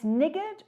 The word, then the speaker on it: niggard: It is spelt N-I-G-G-A-R. And it's niggard or niggardly. It's an old word we don't use a lot anymore, but please spell it correctly. It's not the N word, niggard.